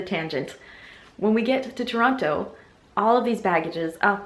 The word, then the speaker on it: Toronto: when we've landed in Toronto. And I just said Toronto like an American. I read online you're not supposed to pronounce the T if you're from the area, otherwise everyone knows you are not from Ontario.